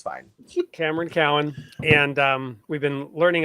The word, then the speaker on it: Cowan: a few seconds we're here with um Cameron Cohen am I saying your name correctly sure it's Cowin but it doesn't matter everyone mispronounces it it's fine Cameron Cowan and um we've been learning a lot about